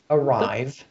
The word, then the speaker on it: Ariv: This is the GM Arrive. It's spelled like A-R-I-V.